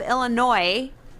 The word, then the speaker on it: Illinois: worse but but yeah so i have illinois with the s being silent with their nickname the